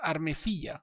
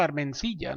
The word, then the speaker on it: Armesilla: Es claro, ahora lo voy a intentar Armesilla, ¿vale? Lo voy a intentar porque tengo tendencia a llamarlo Armencilla, no sé por qué. Y es Armesilla, así de simple, ¿no?